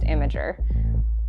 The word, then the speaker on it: Imgur: I was even on Imgur long enough to know it's pronounced Imager.